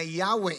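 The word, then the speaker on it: Yahweh: ngayon ang english Jehova so ang Jehova at yahwe English at Hebrew pronunciation para sa pangalan ng Diyos however mas ginagamit natin yyung name na yahwe instead of Jehovah dahil technically mas accurate ito Saan sa Hebrew language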